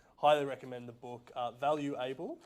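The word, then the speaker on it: Value.able: recommend the book uh value able is that how you pronounce it is it's valuable i've always wanted that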